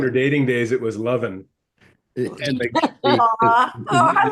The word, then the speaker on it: Levin: Do I pronounce it wrong? Don't I? It's Levin. You pronounce it New York. It's Philly, it's Levin. Oh, I see. In Philly, it's Levin. Yeah, Okay. but New York pronunciation is fine.